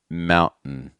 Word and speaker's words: mountain: held T's is that after you do the held T, that N sound at the end is going to be so weak and fast and generally low in pitch. So I'm not saying mountain mountain.